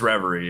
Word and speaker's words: Reverie: It's Reverie, yeah.